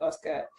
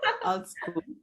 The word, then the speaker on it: AltSchool: and you are currently a community manager at Oscar. Would you maybe tell us more about what this Oscar is all about? Well, I said AltSchool Africa. Sorry, maybe I didn't pronounce it well. AltSchool.